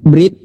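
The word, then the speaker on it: ברית: Dalam bahasa Ibrani, Brit ya atau bris dalam pengucapan klasik berarti perjanjian.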